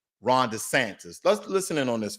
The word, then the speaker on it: DeSantis: Now, let's talk about CRT when it comes to Florida and Ron DeSantis. Oh, excuse me, mispronunciation. Ron DeSantis.